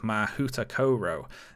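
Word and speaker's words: Mahoutokoro: World for instance the Japanese school is called mahuta Koro now that might not sound right to you H but but that is the pronunciation guide given on the website so this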